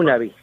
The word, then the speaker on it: Honobia: What about the residents of, how do I pronounce it? Honobia? Is that how? Honobia.